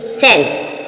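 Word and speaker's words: scent: पर साइलेंट है सी सेंट सेंट means गं एस सी ई एन टी सेंट सेंट means गं जो एस के बाद सी आएगी वह सी साइलेंट है सेंट सेंट मींस गं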